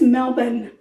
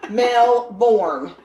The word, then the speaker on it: Melbourne: and that's how they talk I think it's Melbourne at melbour melbour is the way they pronounce it I'm pronouncing it the way it's spelled don't do that grammar police Melborn okay or Melbourne okay anyway before I was